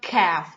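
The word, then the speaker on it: ك: we have after the we have calf kakaka normal k so this might be like a cue a lot from the throat and this like a normal k or c calf calf i will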